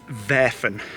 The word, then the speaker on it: Werfen: It's veren.